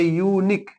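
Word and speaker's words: unique: किल आपको लगाना है वह वर्ड अगर वावेल से शुरू है लेकिन उसका उच्चारण य से होता है किससे होता है य से होता है अब जैसे यूनिक देखिए क्या आया यू आया यूनिक तो अगर उसका उच्चारण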